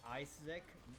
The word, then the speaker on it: Isaac: Uh, you actually pronounced it wrong. It's Isaac.